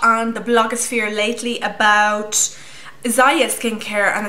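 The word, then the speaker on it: Ziaja: I've been hearing a lot on the blogosphere lately about Zaya skincare, and it's spelled like Z-I-A-J-A.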